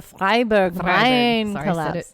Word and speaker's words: Freiburg: these Freiburg mine collapse the Freiburg no you said it right but you say it very German oh I've been to